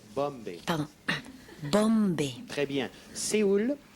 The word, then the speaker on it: Bombay: Il faut prononcer le M et le rebondir. Bombay.